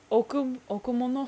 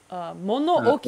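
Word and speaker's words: 物置: Okumono, is that how you pronounce the storehouse? Mono Oki.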